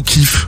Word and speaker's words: KIF: Non, est-ce que ça prononce KIF ou Kiff? KIF. Parce que les gens disent, oui, moi j'écoute Kiff, machin. Mais tu peux dire les deux.